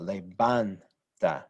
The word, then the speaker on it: levanta: Now the stress syllable is right here on this middle syllable, levanta, right? That ban is what's stressed. That's where the stress syllable is, second to last, it follows the rules.